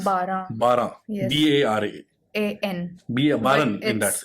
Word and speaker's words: Baran: Baran But in that. It's Okay, Bara.